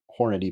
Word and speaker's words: Hornady: that's not the only word that it's pronounced Hornady, by the way.